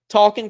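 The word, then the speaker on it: Talkin': Talkin Kentucky.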